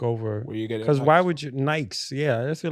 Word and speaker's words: Nike: UK people are like it's Nike you saw everybody says Nik in the UK everybody I know says Nike you're the only person